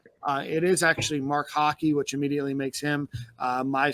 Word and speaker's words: Hocke: Joe Danos, I believe, is how you pronounce it. Oh, we do want to make a clarification. We called him Mark Hawk. It is actually Mark Hockey, which immediately makes him my favorite player our